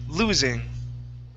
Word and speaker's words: losing: Right here, this word is losing. Losing. Okay, with the Z sound here, lose.